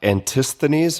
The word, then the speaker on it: Antisthenes: This is uh Antisthenes. Am I getting that pronunciation right?